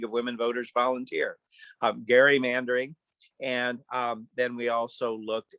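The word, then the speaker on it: gerrymandering: were certain categories photo id proof of citizenship gerrymander pardon me i just learned recently it's pronounced gary manbury and i learned that from a league of women voters volunteer um gary mandering and then we also looked at one of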